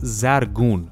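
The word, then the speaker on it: زرگون: Zircon is an old Persian word that's pronounced zargun, which means gold-like.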